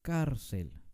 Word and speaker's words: cárcel: entender mejor este concepto veamos entonces la palabra cárcel que ya habíamos estudiado es una palabra grave cárcel no decimos cárcel la palabra cárcel termina en consonante si entonces le vamos a poner acento escrito a la donde está el énfasis de la palabra que esa es la penúltima sílaba bien así que la palabra